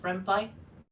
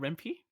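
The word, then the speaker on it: Ren'Py: knew how to use at that point was rampant which is a oh yeah it's it's it's pronounced red pie not rempe it's made in python so yes oh yeah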